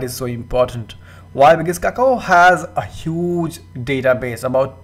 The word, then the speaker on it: Kakao: Now this is a very difficult name to pronounce. I will pronounce it as Kakao.